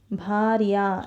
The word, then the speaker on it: भार्या: जब आप इस शब्द का उच्चारण करेंगे तब एंड ऑफ द वर्ड में आपका अंत में उसका उच्चारण दूसरा स्वर यानी आ स्वर, सेकेंड आ यानी आ से आम, उस स्वर से आपका ध्वनि समाप्त होता है।